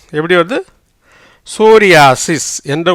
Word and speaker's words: psoriasis: ஏன்னா பீக்கு உச்சரிப்பு இல்லை. எஸ்ஓ வந்து சோ, ரீக்கு வந்து ஆர்ஐ வந்து ரீ, ஆக்கு ஆதான், ஏக்கு ஆதான், எஸ்ஐ வந்து சி, எஸ்ஸுக்கு வந்து இஸ். எப்படி வருது? சோரியாசிஸ். எப்படி வருது? சோரியாசிஸ் என்ற உச்சரிப்பில் வருகிறது.